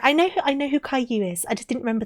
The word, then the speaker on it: Caillou: It's pronounced Caillou. It's a French name.